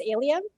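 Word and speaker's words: ALiEM: And you pronounce that acronym as ALIUM, is that right? Yeah. So for ALIUM, she's also served on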